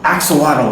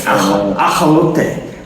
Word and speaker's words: axolotl: But then just last year I realized that that's not actually how it's pronounced, right? So like we pronounce it wrong, right? It's ajolote or something like that. That's how it's actually pronounced, right?